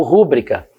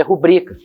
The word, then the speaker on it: rubrica: Então, se eu pensar que é, por exemplo, rubrica ou rúbrica, eu fiquei na dúvida. Se for rubrica, eu não vou acentuar. Se for rúbrica, eu vou querer acentuar, porque é a regra das proparoxítonas. Não, o certo é rubrica.